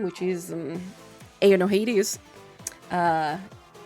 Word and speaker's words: Aono: name which is um Aon Noah. Uh it's not pronounced as AO, it's pronounced as O. And that is blue in Japanese if you are not aware of it.